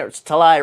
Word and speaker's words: Talai: Amir talai yay and talai rhymes with July just so that you